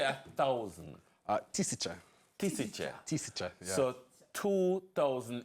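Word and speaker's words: тысяча: Tisicha.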